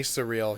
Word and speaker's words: Cirilli: So Anthony Cirilli, I always say his name wrong. Okay. It's actually Anthony Surreal.